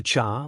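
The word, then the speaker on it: 刹: The cha, when pronounced sha, literally translates to break, like break on a car. But I am pretty sure it is meant to be pronounced cha here, which has to do with, like a Buddhist temple or shrine or something.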